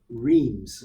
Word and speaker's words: Reims: Reims.